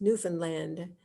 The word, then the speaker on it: Newfoundland: Pronounced Newfoundland, because we want to see Grosse Moorne National Park.